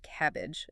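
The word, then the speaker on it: CABG: Coronary artery bypass grafting or cabab pronounced cabbage is the main surgical option.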